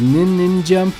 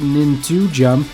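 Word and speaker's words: Nin²Jump: nin jum yeah the squared sign there makes it so that the pronunciation is nin nin jump not nin jump and I didn't make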